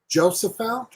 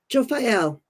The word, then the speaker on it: Jophiel: Help me, Jane, because you pronounce these better than I do. Jophiel. Jophiel.